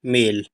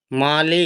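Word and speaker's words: male: एल इ क्या पढ़ेंगे मेल ठीक है ना मेल पढ़ेंगे इसको मेल माले नहीं पढ़ते मेल पढ़ते मेल यानी कि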